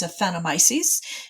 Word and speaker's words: Aphanomyces: a hard time pronouncing, but the way I pronounce it is Aphanomyces. Is that how you pronounce it? That is exactly how I pronounce it, Laura. So what are we talking about here? What is Aphanomyces? Aphanomyces is a root disease, a root rot disease